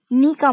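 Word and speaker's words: knock: सिर्फ के से स्टार्ट नहीं होता एन से होता है तो आप यह ध्यान में रखिएगा नी का मतलब है घुटना यानी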